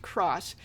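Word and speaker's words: Xross: It's spelled X Ross, but it's pronounced Cross.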